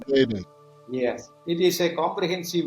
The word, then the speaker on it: Ayurveda: So it is a combination of Ayur and Veda. It's Ayurveda. Ayurveda.